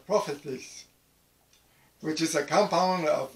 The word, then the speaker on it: prophetes: And it's pronounced prophetes, which is a compound of words.